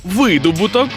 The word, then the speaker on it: видобуток: що скажете про слово видобуток видобуток вугілля наприклад Чи глини Ви ж знаєте що тут наголошуємо саме звук и видобуток видобуток видобуток видобуток